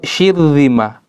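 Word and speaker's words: شرذمة: Juga kalimat syirzimah, bukan syirzimah tapi syirzimah. Kenapa? Ra di tengah kalimat, sebelumnya ada shin dan berharokat kasroh, setelah ra ada huruf za, dan za bukan huruf isti'la, maka bacanya tipis. Bukan syirzimah tapi syirzimah.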